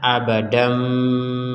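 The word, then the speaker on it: أبدًا: baca abada Kalau berhenti Kalau digabungkan maka kata abadan ini tanwinnya Ini digabung kepada ba sehingga menghasilkan kita harus membacanya abadam Ada denggungannya abadam Bima Dam bukan dan lagi Sekali lagi bukan dan d a n bukan dan tapi d a m Dam abadam kemudian Bi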